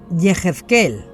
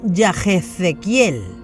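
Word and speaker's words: יחזקאל: ¿Cómo se dice? Yehezkel y no Yahezequiel.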